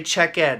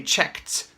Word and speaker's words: checked: end do not say check add in English say checked it has a T pronunciation even though you may